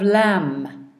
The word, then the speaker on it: lamb: other side we have lamb we don't hear the B but it's there in the spelling so you can go